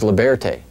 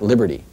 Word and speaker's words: Liberté: This is Liberté, not Liberty.